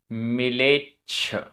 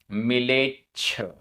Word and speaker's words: मिलेच्छ: गाथा क्रमांक 132 उच्चारण अजव आधा ज पूरा ज अजव मिलेच्छ मिलेच्छ आधा छ मिलेच्छ खंडे खंडे अजव